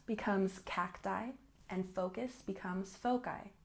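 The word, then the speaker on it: foci: cacti and focus becomes folai notice that cacti and folai have the long eye sound not cacti not foli cacti foli and let's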